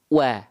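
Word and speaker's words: و: mohon izin Nah jadi dilafalkan wa maju dulu bibitnya baru buka mulut sambil senyum Wa Wa kalau hanya buka mulut saja wa maka ini kurang sempurna kadar tipisnya ya wa wa wa wa bukan hanya wa tapi wa ya oke sampai sini jelas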